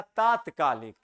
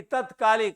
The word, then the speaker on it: तात्कालिक: आप देखिए, तत्कालिक नहीं होता है, सही शब्द लिखा गया, तात्कालिक सही लिखा गया है। लोग बोल देते हैं कि तत्कालिक आ जाइए, तत्कालिक काम कर देंगे, नहीं, क्या होता है? तात्कालिक।